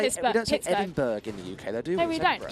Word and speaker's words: Edinburgh: say this don't take edinburgh in the uk you don't pronounce the g it's just it's ten